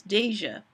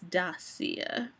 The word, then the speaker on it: Dasia: and it is few, they call themselves Deja. And it makes sense. It's a D plus Asia. But no, it's spelled that way, but it is Dasia.